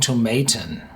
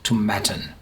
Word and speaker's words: Tomatin: I'm used to saying Tomatin, but definitely it's called like satin Tomatin.